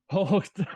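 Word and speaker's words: Hoechst: Hocht. That's German. There is no really British English translation for that. You have to say it like German.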